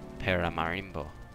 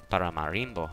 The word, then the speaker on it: Paramaribo: Now we continue our awesome trip around the world to here, Paramaribo. I pronounced that completely wrong. Paramaribo, I guess would be closer to it, but if you see